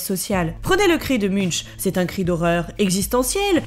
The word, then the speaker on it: Munch: Alors a priori, en fait, ça se prononce plutôt Munch, peinte en 1893.